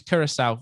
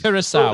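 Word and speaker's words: Curaçao: The correct pronunciation is Curacao. Sorry, I'm going to give you it. Hey, close enough. Do I get that? Yeah, I've given you it. Yes. Curacao is how it's pronounced.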